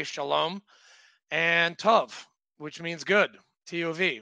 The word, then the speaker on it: tov: I can only say shalom and tov, which means good.